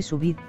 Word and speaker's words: sous vide: El sous vide, en francés al vacío, pronunciese sous vide, es un método de cocción que mantiene la integridad de los alimentos, al calentarlos durante largos periodos a temperaturas relativamente bajas.